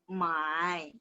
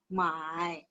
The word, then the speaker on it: 买: Nada 3 itu membeli. 买. Nada 3. 买. Jadi kalau misalnya salah nada, orang bakalan salah paham gitu ya. Jadi nada 4 menjual. 卖. Nada 4. Kalau membeli, 买.